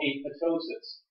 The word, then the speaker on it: apoptosis: Sometimes it doesn't always get fixed, and the cell undergoes a process called apoptosis. Second P is silent.